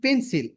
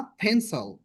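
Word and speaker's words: pencil: না তারপর এটা একটি পেন্সিল। This is আ পেন্সল। পেন্সিল না কিন্তু পেন্সল।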